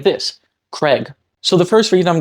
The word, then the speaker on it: Craig: subtle difference is because it's a minimal pair every other sound in the word is pronounced the same you have C followed by R followed by a vowel followed by G that is the same in both pronunciations the only difference is that one vowel in the middle by saying it is